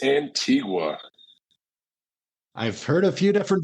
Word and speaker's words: Antigua: I'm gonna ask you is it Antigua or Antiga it's Antigua I've heard a few different variations I've been